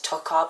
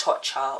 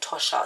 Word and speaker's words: Tatcha: I believe in my last fragrance video I actually pronounced it as Tocca, but I think that's wrong because I saw somebody else talk about this fragrance, and I believe it's pronounced Tatcha or Tosha, something like that.